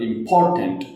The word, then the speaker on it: important: वो स्ट्रांग होता है जैसे फॉर एग्जांपल इंपॉर्टेंट आप यहां पे जो स्ट्रेस है वो पी ओ आर के ऊपर है इंपॉर्टेंट नॉट इंपॉर्टेंट। ठीक है? आई एम के ऊपर नहीं है।